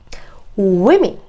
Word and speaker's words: women: A woman, women. 자, 발음이 좀 달라지니까 유의하세요.